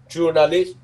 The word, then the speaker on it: journalist: Ai học tiếng Pháp thì đọc mấy chữ này nó dễ lắm. Journalist, chua. Nó đọc giống như là các âm chờ, rồi chữ giờ, chờ rua, chờ rua nha, chờ rua đọc là chua, chua, chua, chua nổ, chua này, chua na list nha, journalist, journalist là